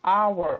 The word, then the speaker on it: hour: Percebam que our, olha só, o H não é pronunciado.